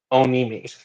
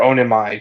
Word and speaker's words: Onimi: And the old man is revealed to actually be Onimi, Mm-hmm. or Onimai, depending on how you pronounce his name.